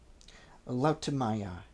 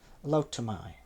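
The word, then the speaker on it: Lautumiae: out by Manius Assilius and were thrown into Laaya spelled L A U TU M I A E Liay.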